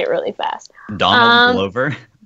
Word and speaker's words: Glover: Donald Glover? It's like Clover, but with a G.